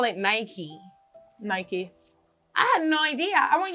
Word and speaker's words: Nike: like for example yeah you guys call it Nike Nike no idea I want you guys to know that up to like 16 years old that was Nike and I bought some new Nikes and like I remember people giving me weird